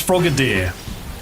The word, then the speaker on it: Frogadier: Actually, is frogadier pronounced as frogadier or frog? It's frogadier.